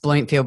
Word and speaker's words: Blomfield: Or it's pronounced Blomfield, but it's spelled with one O.